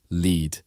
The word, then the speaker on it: lead: Lead. You can lead a team, L-E-E-D. Or lead pipes are made of the metal, which is pronounced L-E-D.